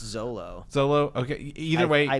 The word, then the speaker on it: Xolo: It's XOLO. I believe it's just Zolo.